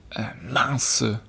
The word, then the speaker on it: mince: goes wrong, they say mince. Mince. And it's spelt mince, like M-I-N-C-E. Like mince meat?